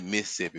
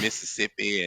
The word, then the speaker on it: Mississippi: upbringings in Mississippi Mississippi see when you from there you say Mississippi we take one of them syllables away that's how we know that y'all don't be from there y'all be saying Mississippi and Mississippi and all